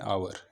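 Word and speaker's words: hour: He went away for एन आवर।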